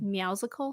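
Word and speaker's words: Meowsical: game music it's called meowsicle so i'll spell that for you it's like it's like combining the words meow from like a cat and musical so it's spelled m-e-o-w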